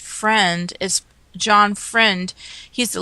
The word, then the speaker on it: Freund: his name is pronounced Friend, is John Friend. He's the lawyer. His name is spelled Freund.